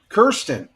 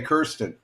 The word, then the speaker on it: Kirsten: Kirsten. Did I say that right, Kirsten? Kirsten from Texas. Kirsten. Yeah, K-I-R. Kirsten. Kirsten. Okay, Kristen. Okay, I'm gonna just call you. How's that? Kirsten.